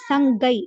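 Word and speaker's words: 三階: அப்படின்னு வரும் அதே மாதிரி மூன்றாவது மாடின்றதுக்கு வந்து சங்கைன்னு வராது சங்கை க சவுண்ட் வரும் சங்கை அப்படின்னு வரும் ஆறாவது மாடிக்கு ரொக்கைன்னு வரும்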